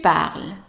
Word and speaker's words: parles: Tu parles. Again, ES, silence.